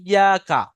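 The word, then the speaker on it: إياك: ইয়াকা, ইয়াটা টান হবে এক আলিফ পরিমাণ, আলিফ মাদ্দা হওয়ার কারণে।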